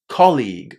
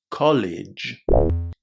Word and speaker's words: colleague: Say colleague with a nice C at the beginning. Colleague. And also pay attention, especially if you're a lower level, that the G at the end of this word is pronounced as G. exactly as the beginning of the word game. Colleague, not college.